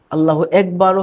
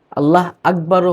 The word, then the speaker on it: আল্লাহু আকবার: আল্লাহু একবারও হবে না। আল্লাহ আকবারও হবে না।